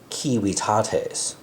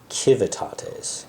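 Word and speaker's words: civitates: Um, but it's pronounced like W. So, it's a WW sound. For example, the kiwiates, right? rather than the kivitates.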